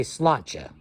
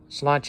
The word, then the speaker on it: sláinte: And they'll say sláinte. Sláinte is just like, you know, what you say when you're saying cheers.